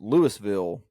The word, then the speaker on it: Louisville: a town in Mississippi spelled the exact same way and it's pronounced Lewisville there you go Dynamite